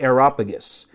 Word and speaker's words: Areopagus: I knew I was going to mispronounce that name. It was the Areopagus.